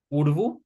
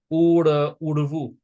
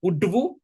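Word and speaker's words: ઊડવું: Now again, you'll notice this duh in the middle of a word. It's going to be pronounced more like an ura, like that funny little L sound that Gujarati has. Urvu. Urvu. It's usually not udvu. It's not udvu.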